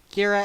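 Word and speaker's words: Ghira: in course heck fox Kyra as in Bagheera from Jungle Book Callie as in calico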